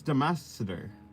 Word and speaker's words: Damaxader: Because in Portuguese, the X is pronounced differently. X. Oh, so the C would be different. Xa. Oh, so it's Damasader. It's supposed to be Damasader.